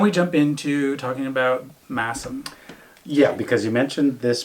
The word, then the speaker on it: Masham: And I actually was pronouncing it Masham, but it's Massam. Yeah, because it's spelled SH and you think it's shh.